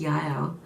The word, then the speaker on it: Jael: I looked into the pronunciation, and they say it's Jael.